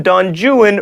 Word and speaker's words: Don Juan: The Italian libertine is Don Juan, but in Byron's epic poem, Don Juan rhymes with ruin.